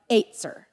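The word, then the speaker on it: ezer: this kind of stuff in the Hebrew it's pronounced with a little bit of a tongue twist where it's like eight sir eight sir I'm gonna say azer okay because it's just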